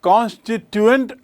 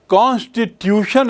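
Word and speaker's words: constituent: संविधान सभा को क्या कहते हैं? कॉनस्ट्टिटुएंट असेंबली कास्टिट्यूशन असेंबली नहीं दोनों की स्पेलिंग को आप तुलना करके देख लें। कॉन्स्टिटुएंट की स्पेलिंग है सी ओ एन एस टी आई टी यू ई एन टी कॉन्स्टिटुएंट assembly. Assembly यानी सभा। तो ये संविधान सभा यानी कॉन्स्टिटुएंट असेंबली कॉन्स्टिट्यूशन असेंबली नहीं।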